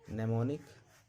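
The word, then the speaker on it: mnemonic: के बाद एन लगा रहे तो एम का उच्चारण नहीं होता है। नेमोनिक निम पढ़ा जाता है।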